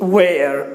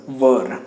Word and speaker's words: were: Don't pronounce it where, it's were.